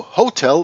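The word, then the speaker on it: hôtel: the, and hotel, but the French do not pronunciate the H when it is in the beginning of a word. So hotel becomes hotel, and because the le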